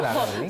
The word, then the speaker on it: 레이블링: 우리나라 발음식으로 얘기하면 네, 라벨링. 조금 더 잘 얘기하면 데이터 레이블링이라고 네.